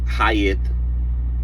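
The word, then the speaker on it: Hayti: Maybe like that Saturday morning, I only had like, I stopped in Hyatt, Missouri. That's how you say it, Hyatt, Missouri.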